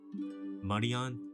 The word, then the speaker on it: Marian: disaster relief under a marine's command. Marian's command. I'm so used to saying Marine. Marian. I it makes sense with the three syllables.